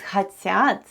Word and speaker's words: хотят: The first sound is H, then goes O, and O is unstressed and is pronounced as A. Then goes T, then we have Ya, and then we have T. And all together it's хотят.